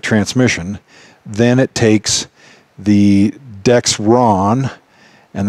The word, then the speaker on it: Dexron: If you have a 6-speed GM automatic transmission, then it takes the Dexron, and that's spelled D-E-X-R-O-N. There's no T in there for you guys that think it's Dextron.